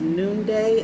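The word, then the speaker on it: Nunde: And the goddess that came out was Noonday. I believe that's how you pronounce it, N-U-N-D-E.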